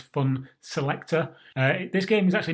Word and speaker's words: Funselektor: selector i actually like was fun skeletor at first first saw it just the way that the way that the name is spelled but it's not it's fun selector uh this game is